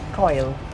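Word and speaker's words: Coyle: man's here Kyle man phonetically it would be Co y coil like Nadine coil in indeed or a surgical coil oh another bump two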